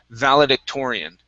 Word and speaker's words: valedictorian: Okay, so our stress is on that or, valedictorian.